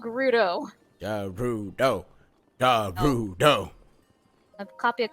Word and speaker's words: Gerudo: Game literally tells you it's called Gerudo.